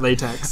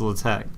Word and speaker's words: LaTeX: Yeah, I won't lie, until I was preparing for this show, I always called it LaTeX. I actually called it LaTeX until my advisor criticized me. He's like, no, it's LaTeX.